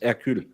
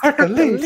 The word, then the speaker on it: Hercule: No, it's Hercule. Hercule. All I'm thinking, y'all, is Hercules, Hercules, Hercules, Hercules, Hercules. The H is silent in French.